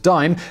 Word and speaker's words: disme: You see, the half dime, which is actually spelled D-I-S-M-E, but is pronounced dime, as it was originally referred to, it wasn't made of nickel.